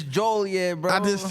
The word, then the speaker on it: Joliet: It's Joliet, bro.